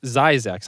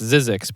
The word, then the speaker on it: Zzyzx: sign that was zzyzx road and it's actually pronounced zyzex i thought it was pronounced zizzix but it's actually pronounced as isaac so it's